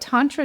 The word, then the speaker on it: tantra: Yeah, I mean what I would add is the word itself, tantra, not to be pronounced tan-tra, my friends. Tan is a color.